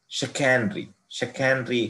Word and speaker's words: chicanery: देखिए इसको, ये सी से शुरू होता है, फिर भी इसका साउंड अलग है. शिकैनरी, okay, SHA can, okay, शिकैनरी, but spelling इसका CHICANERY.